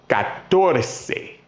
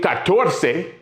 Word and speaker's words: catorce: The only one, 14, catorce, 3 syllables, and quince, 2 syllables.